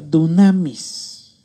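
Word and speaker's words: δύναμις: La palabra poder es la palabra que en el griego dice, se escribe, se pronuncia dunamis, que significa fuerza, específicamente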